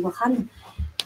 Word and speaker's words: Wakhan: Donc c'est une population issue du corridor de Wakhan, qui s'écrit Wakhan, mais on dit Wakhan, qui est donc juste à côté de l'Afghanistan.